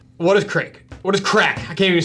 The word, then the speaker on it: craic: and living in ireland crack pronounced crack ha is an irish word for epic times and laughs with friends use our sauce to